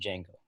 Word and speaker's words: Janko: ski downhill hi everybody it's pronounced Janko by the way it's cool um I